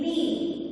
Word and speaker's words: knee: Knee. But while writing, we write K. So these are called as magical words or silent letters. So these words will have silent letters. So here K is silent letter.